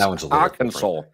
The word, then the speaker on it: Arkansas: Kansas and Arkansas. No, no, it's Arkansas. It's all about where you put the uh accent.